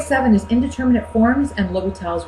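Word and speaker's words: L'Hôpital: is indeterminate forms and l'hopital's rule that's how you pronounce it will be tops technically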